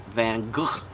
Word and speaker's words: Van Gogh: on Van Gogh and the people were insisting on pronouncing his name Van Gogh or something to that effect apparently that's the more accurate rate great way to pronounce his name van gool it sounds ridiculous just